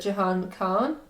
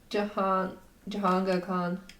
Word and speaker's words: Jahangir Khan: Is it Jahan Khan, Nicole David, Jeff Hunt, or Jansha Khan? I think I butchered that. But, like, you know. Okay, what was the first one? Jahangir Khan.